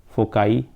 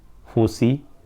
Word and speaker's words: foci: नहीं यूज करेंगे हम, फोकाई, फोसी. ओके, जो भी प्रोनाउंस करना हो तो बस ब्रिटिश से अमेरिकन वर्ड्स हैं ये सारे. तो फोकाई एंड फोसी, दोनों में से कुछ भी प्रोनाउंस कर सकते हैं.